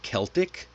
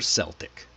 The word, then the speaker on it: Celtic: Now depending on the context, you'll hear Celtic or Celtic.